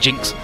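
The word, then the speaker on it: GN-X: it I'm drunk and it's the GNX pronounced Jinx but let's go Perez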